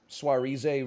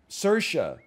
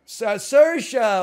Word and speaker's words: Saoirse: It stars Sam Rockwell and Swarize Ronan. I don't know how to pronounce it. I'm sorry. Charisse? I've never said it the word out loud. Saoirse. Saoirse.